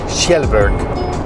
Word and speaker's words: Kjellberg: a pilot so PewDiePie recently did or Felix Kjellberg which that's how you say it name Shepard